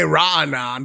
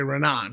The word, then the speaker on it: Raanan: But it's it's honestly could go either way cuz it's Hebrew and it's a guttural sound like raan. But there is no guttural sound in English, right? So in English you could say raanan, but that's a little weird. So you can also just say renan.